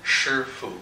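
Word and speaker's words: 师父: Shifu? Shifu. Shifu. Mm-hmm. So like her adding an S, and then like the Foo Fighters.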